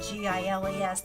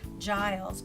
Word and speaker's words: Giles: can I help you it says rhymes with miles that's pronounce agile so again that kind of helps kids if they've never seen GI le s they might say Giles but they not hurt dials but they know it's Giles and she tells him